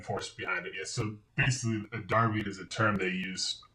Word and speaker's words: derby: Manchester City which is also known as the Manchester derby or is it pronounced Darby it's pronounced Darby but their music simple it's kind of Derby is the American pronunciation Darby is the English pronunciation okay if somebody came